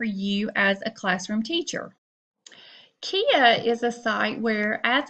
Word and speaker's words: Quia: And today I'm going to be doing a little tutorial for you on a website called Quia, pronounced like Maria.